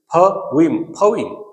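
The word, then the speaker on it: poem: तो ये जो लास्ट वाला जो वर्ड दिख रहा है आपको हर लाइन का, पोयम की हर लाइन का, because in Indian English we speak पोयम बट its actual pronunciation is पोइम।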